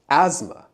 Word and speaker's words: asthma: But the TH, the th sound, you can't hear it. Again, it's silent. So it's not pronounced asthma. It's not pronounced asthma. It's just pronounced asthma.